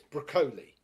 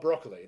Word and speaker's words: Broccoli: Albert R broccoli but I found out it's broli even though it's spelled broccoli it's broli so it was like for years I was oh Albert broccoli no broli pronunciation is